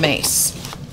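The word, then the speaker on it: Myss: so those are the healing cards from Carolyn mace her name is spelled m SS but it is pronounced mace okay so this this is another set of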